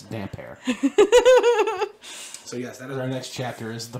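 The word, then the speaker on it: Damphair: it's Erin damper or damn fair damn fair I've home damp air cuz that's how it's supposed to be pronounced it's damp air the next chapter is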